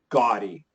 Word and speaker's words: gaudy: So his name is actually Gaudi, but his style is gaudy. This is a pure AW sound, and this is a great adjective that I want you guys to learn.